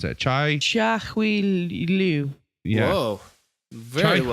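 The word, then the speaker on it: Liu Chia-hui: the Crazy 88s, that's babe, how would you pronounce that? Chia Hui Liu.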